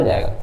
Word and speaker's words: Z: जरूरत नहीं है, लेकिन इसको जी पढ़ा जाता है, जेड नहीं पढ़ा जाता है, प्रोनाउंसिएशन बदल जाती है, आपको पता होगा।